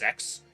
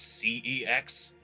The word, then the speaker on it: CeX: By the way, did you know it's pronounced `Sex`, not C-E-X?"